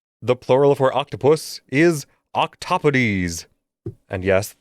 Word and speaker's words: octopodes: So, the plural for octopus is octopodes. And yes, with a more Greek pronunciation, the second syllable gets stressed instead of the first.